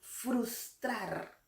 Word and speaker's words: frustrar: Aquí la fuerza de voz recae en la sílaba trar. Es una palabra aguda. El venadito se ocultó con la intención de frustrar el propósito del león.